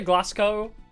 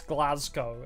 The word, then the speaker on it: Glasgow: I say Glasgow, but it's Glasgow, isn't it? Like, it sounds like a Z sound.